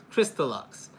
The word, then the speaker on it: Crystalux: Again, that's how you spell it. It's CRYSTALUX, Crystal Lux.